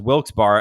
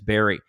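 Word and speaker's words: Wilkes-Barre: a million times and for years I've been pronouncing it at wi as wilk's bar and I only learned last year that it's Barry James have an a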